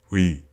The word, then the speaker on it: ㅟ: this vowel is called we and this is how you write it it is a combination of u and e so the pronunciation goes